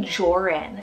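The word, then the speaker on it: Joren: laugh so next up we have the name jorin spelled j-o-r-e-n jorin now this one is a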